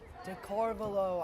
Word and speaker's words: Darvalo: Darvalo, I've been told is the exact pronunciation of Leonardo's name.